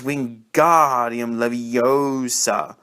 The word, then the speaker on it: Wingardium Leviosa: arms like a windmill you're saying it wrong harry heard hermione snap it's wingardium leviosa make the god nice and long you do it then